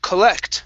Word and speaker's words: collect: this word here is pronounced collect with the stress at the end collect collect all right